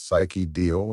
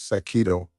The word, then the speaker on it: Sakido: blessing of the goddess Psyche Dio and her husband, Saint He. That's not their names." Aqua pipped up, coming to stand by Izuku. "You're mispronouncing them. She's Sakido, and he's Seiya."